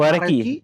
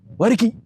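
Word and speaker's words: 和暦: Wareki atau Wareki. Wareki atau berarti Wareki. Ya kan? Wareki. Cuma agak cuma di nadanya doang kita beda. Wareki. Kan harus Genji. Harus gitu kan. Wareki. Ki-nya agak panjang tuh.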